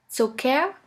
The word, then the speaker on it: Zucker: The first letter combination here is CK, which is simply pronounced like a K. Here we have the example of the word Zucker, which means sugar.